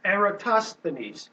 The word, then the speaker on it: Eratosthenes: see this is back 200 and rough and Eratosthenes that's how you say it I guess this